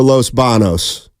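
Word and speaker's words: Los Baños: BOS oh thank you you said it right the first time steiny is right the alternative and in Spanish is Los Banos there's a tild day above the N I believe it's called an n and there's not one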